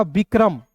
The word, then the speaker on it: विक्रम: देखिए यहां पे वी आई है तो बी का व। आई है तो छोटी इ के रूप में उच्चारण करेंगे। वी के आर है तो दोस्तों लिखना है क्र। के आर का क्या लिखना है? क्र और एम है तो दोस्तों लिखना है म। क्या हो जाएगा? विक्रम। बी आई के आर ए एम विक्रम।